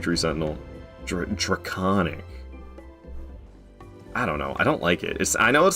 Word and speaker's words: Draconic: I don't want to go to Draconic Tree Sentinel. Draconic. I don't know. I don't like it. It's I know it's like pronounced like the word iconic.